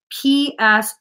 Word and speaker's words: psoas: That's PSOAS. Let me just spell that.